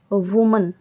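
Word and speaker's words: women: ऐसे ही वुमन, WOMAN इसका plural होगा विमन, ठीक है।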